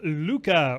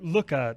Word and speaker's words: Looka: to bring you this review of Luca or Luca depending on how you want to pronounce it you can tell